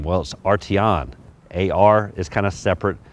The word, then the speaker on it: Arteon: and bolts of this vehicle first how to pronunciate the name well Artie on AR is kind of separate from the T Eowyn so R T on the second is this exterior color now pretty